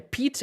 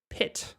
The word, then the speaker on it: pit: Pero esta palabra no se pronuncia peat, sino pit. Pit. ¿Pueden escuchar la diferencia? Peat, peat, como si estuvieras sonriendo mientras lo decís. Pit, pit, like the pit of a cherry.